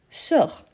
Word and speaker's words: sort: sors, il, elle, on sort. Donc, ici, on a le S qu'on ne prononce pas. Je sors, tu sors. Ici, on a il, elle, on sort avec T qu'on ne prononce pas non plus.